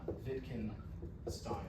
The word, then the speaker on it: Wittgenstein: So the W is pronounced as a V, so Wittgenstein or Stein.